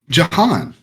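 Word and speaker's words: Jhon: Oh, this John is is spelled Jahan. J. H-O-N. Jahan.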